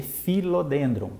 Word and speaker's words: Philodendron: Philodendron, por exemplo, se escreve PHI, né, Philodendron, mas se lê Philodendron, porque o pH tem som de F.